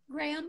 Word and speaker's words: Graham: It's Graham. Thank God, Graham put on his account how to pronounce his name, because I was like, is it Graham? Is it Graham? I was thinking that too. I was saying Graham. It's Graham, which I love.